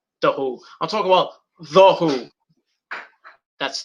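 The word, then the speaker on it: The Hu: um pete townsend the who i'm talking about the who that's t h t-h-e-h-u go look them up on youtube they have a great cover of metallic metallic sad but true huh h.u let's pronounce the who mongolian heavy metal kick ass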